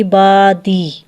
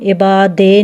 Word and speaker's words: عبادی: صحیح تلفظ کیا ہے، عبادی، اب اس کو ہم عبادے نہیں پڑھ سکتے، عبادی پڑھیں گے، ٹھیک ہے، جو کہ